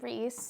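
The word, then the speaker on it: Rhys: the book okay so this is Rees I'll go ahead and put the full name for y'all reand yes that is how you say it I would know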